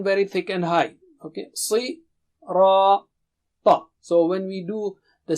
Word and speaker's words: الصِّرَاط: Okay, Si, Ra, Ta. So when we do the syllable practice, you can remember these signs so